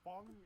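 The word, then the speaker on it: Feng: why we're pushing her name, I like pronouncing it Fang, not Fung, because Fang sounds cool. Yeah. I know Fung is like the correct, but ugh. Yeah, wait, her name's that's Fung. the correct way of saying it? Yeah, that's Chinese. Yeah, Fang. People pronouncing it Fang is like the American.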